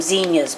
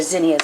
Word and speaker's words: zinnias: We pronounce them zinnias back in Missouri, but they're zinnias.